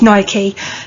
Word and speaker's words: Nike: Nike, yes, that's how it's said. You listen to the American chief executive, he says Nike.